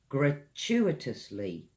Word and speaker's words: gratuitous: You can say, the solicitor helped them gratuitously.